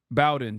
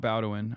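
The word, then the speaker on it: Bowdoin: Bowen, sorry, not Bowin. I always say it wrong.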